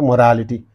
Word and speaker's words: morality: examples Mo ra it so morality nity so you can understand that orality so that's why he says on the third syllable from the end directly he has said